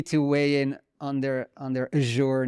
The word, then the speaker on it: Azure: Azure? Yeah, I mean, I think in my variation of English, Azure, like a y, Azure.